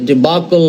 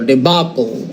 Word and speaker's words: debacle: the right pronunciation is debacle or debacle right there is the right pronunciation uh the difference between the UK and the US uh way of pronouncing the word uh debacle is a